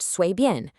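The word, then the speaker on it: 随便: It's pronounced 随便, and it means casual or whatever.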